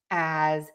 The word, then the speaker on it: as: Yes, this word is spelled with an S, but we actually use the letter Z sound. So, we're going to say as in connected speech, which means in a sentence, in conversation, we often times don't use the a. We'll use more of an H. But what is going to be in common is that we are still going to use that Z sound as.